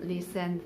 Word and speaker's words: listen: we have is t t is silent in some words like we shall listen fast and often b and valenci it